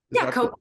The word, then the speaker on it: Kogonada: Well, I was getting that's great, but I also wanted to mention, and am I pronouncing the director's name Kogonada? Kogonada.